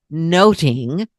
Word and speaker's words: nothing: Now, much ado about nothing, and nothing may well have been pronounced noting or observing or eavesdropping.